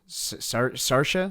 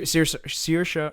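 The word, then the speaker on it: Saoirse: there was uh adrian brody kiefer sutherland um sarcia sarcia ronan right that's how you say her name uh sir sirsha ronan much apologies uh margot robbie that would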